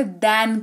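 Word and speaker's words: then: में दो वर्ड है एक है देन एक होता है दन इसमें बहुत कंफ्यूजन रहती है लोगों को तो जिस स्पेलिंग में आपको ए दिख जाए उसको दन पढ़ते हैं और इसी जगह पर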